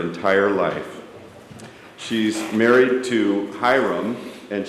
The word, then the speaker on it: Hiram: She's married to Hiram, and she told me that it's pronounced Hi and Rum in the response. So Hiram, I got it right.